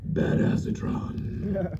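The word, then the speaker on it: Badassatron: right now is um bad acetron which is actually pronounced bad asatron um we're going to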